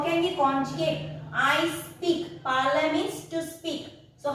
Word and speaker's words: parler: Parle. Pronounced as parle.